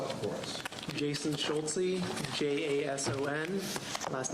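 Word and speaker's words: Schulze: and state your name for the record and spell it for us jason schultzy j-a-s-o-n last name schultzy s-c-h-u-l-z-e some of the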